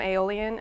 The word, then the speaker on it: aeolian: I'm not using the word alien. Aeolian has a separate little syllable in it. It's got an extra letter in it or 2, and what it means